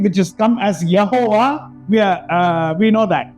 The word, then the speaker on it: Yehovah: Now we say in English Jehovah, हम अंग्रेजी में यहोवा कहते हैं, but there is no J in Hebrew. लेकिन इब्रानी भाषा में जे ऐसा उच्चारण नहीं होता, So it is only Y. सिर्फ वाई ऐसा उच्चारण होता है। So it is called as Yehovah.